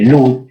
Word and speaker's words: Ludd: liderados por un dirigente obrero llamado Ned Ludd, se escribe Ludd, L-U-D-D, Ned como suena, N-E-D, Ludd, con doble